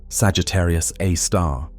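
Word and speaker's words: Sagittarius A*: Now, at the very core, at the precise center of the Milky Way's rotation, resides Sagittarius A, pronounced Sagittarius A star, the super massive black hole of about 4 million times the mass of our sun.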